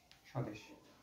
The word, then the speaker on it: স্বদেশ: বলাটা উচ্চারণ হবে না আমরা কি স বস এভাবে উচ্চারণ করি না আমরা স দেশ সরাসরি উচ্চারণ করি তাহলে এখানে আমরা উচ্চারণটা লিখবো এভাবে স্বদেশ আচ্ছা তোমরা একটা আরেকটা